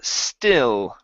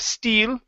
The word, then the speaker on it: still: uh we have uh still right here instead of Steel okay give me a short IE um the earth's climate